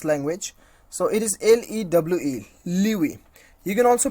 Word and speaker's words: lewe: So it is LEWE, Liwi. You can also pronounce you can also know the pronunciations of this particular word clicking on this on this sound icon.